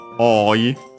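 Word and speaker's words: 多い: Oku comes from oi. Oi accented. So actually on the first o, because yeah, o simply long o, then the adjective, which means many, numerous, a lot.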